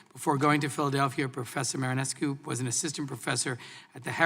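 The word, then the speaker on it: Marinescu: Our second witness is Professor Iona Marinesko. Did I pronounce that correctly? Ioana Marinesko.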